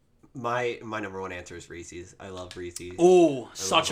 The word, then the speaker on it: Reese's: Reese's. And I say Reese's. I know it's wrong. It's but 100. It's 100% Reese's because it has to rhyme with Pieces.